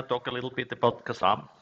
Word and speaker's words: KASM: a little bit about kasam or however you wanna pronounce it i'm gonna say kasam for the sake of making it easier so basically as you